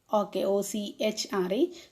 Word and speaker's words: ochre: The monks in red, Ochre, O-C-H-R-E, children, its pronunciation is Ochre.